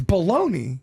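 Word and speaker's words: bologna: yeah but it's it's baloney I mean when you're talking about the cheap processed meat it's baloney I mean if you're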